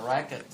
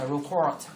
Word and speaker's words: record: I remember khi mà chúng ta dùng danh từ thì người ta đọc là record, đúng không? Thì động từ nó sẽ là gì đấy? Đấy, động từ nó sẽ xoan đầu tiên, nó sẽ là record.